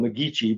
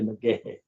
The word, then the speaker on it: McGahey: McGahey's ancient history, which everybody called McGeechee because that's the way it's spelled, but it's a good Scottish name. And despite the fact that it looks like McGeechee, it's actually McGahey.